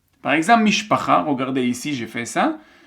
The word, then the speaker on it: משפחה: Par exemple, mishpacha, regardez ici, j'ai fait ça. C'est quoi les syllabes? C'est mish, pa, cha. On a 3 syllabes.